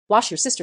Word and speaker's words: Worcestershire: aren't ready to hear Worcestershire wash your sister sauce grew up 30 miles